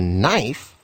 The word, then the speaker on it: knife: of them becomes silent when K and n come together like a knife the K is silent when the W and